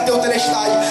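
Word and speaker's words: τετέλεσται: ele grita em grego ele grita te telest ou te telest na pronúncia correta te telest quando ele grita te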